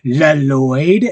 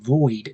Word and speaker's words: Lloyd: There's a great scene where Garmadon is like, "La Lloyd," and Lloyd's like, "No, it's pronounced Lloyd, Dad."